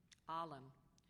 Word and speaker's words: alim: Alim, a Muslim learned in religious matters. Alim. Are there any alternate pronunciations?